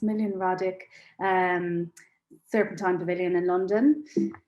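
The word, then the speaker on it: Smiljan Radić: i never say his name correctly but it's million radic um serpentine pavilion in london um yeah we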